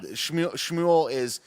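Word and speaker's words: שמואל: Shmuel is how you say is like supposedly Samuel in ancient Hebrew or whatever.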